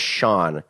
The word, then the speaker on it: Sean: And his name is Sean, which rhymes with John.